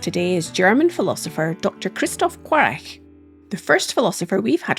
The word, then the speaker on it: Christoph Quarch: Welcome to the podcast, Kristoff Qu.